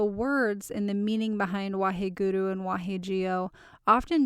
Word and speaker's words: Waheguru: find other spellings out there people are just phonetically trying to make it match how it sounds but it's Waheguru Waheguru of the mantra that I found is